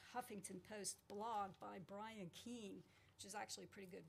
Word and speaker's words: Keane: The best source I could find was this Huffington Post blog by Brian Keane, which is actually pretty good reading. It's spelled K-E-A-N as in Nancy E.